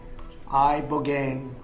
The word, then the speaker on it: ibogaine: In 2024, study from Stanford University, 30 special operation veterans with traumatic brain injuries underwent it's called ibogaine treatment. Ibogaine. Remember the name. Is that pronounced relatively properly, would you say?